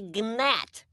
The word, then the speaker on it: gnat: me you are a gnat it's a g silent it's not are you